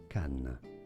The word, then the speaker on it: Cannes: Cannes is how it is said in French. Yes, silent S.